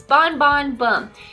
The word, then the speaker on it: Bon Bon Bum: This isn't a lollipop, it's Bon Bon Bum. Interesting name, huh? In Colombia, the word bum is pronounced like boom, so referring to the explosion of flavor inside the lollipop.